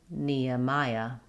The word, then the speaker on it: Nehemiah: So starting with the stress syllable mya. Neaya. Taking it slow. Nea. Nehemiah.